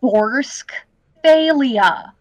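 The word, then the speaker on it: Borsk Fey'lya: faia torsk faia okay Bor faia Bor faia okay literally look it up yeah Bor like borch like the the the Russian soup yep but yeah um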